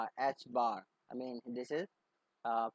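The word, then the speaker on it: ħ: joel second and is pronounced as h bar i mean this is uh pronounced as h bar or h curve is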